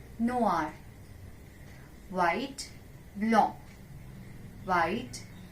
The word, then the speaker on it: blanc: White, blanc, white, blanc. Though it has C in the end of spelling, but we will not pronounce C.